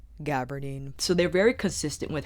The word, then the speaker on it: gabardine: much takes on that gaberdine gabardine alicia it's pronounced gabardine so they're very consistent